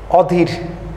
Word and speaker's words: অধীর: অধীর, এখানে ধয়ে দীর্ঘ ই আছে, এখানে আমরা লেখার সময় হ্রস্ব ই দিচ্ছি।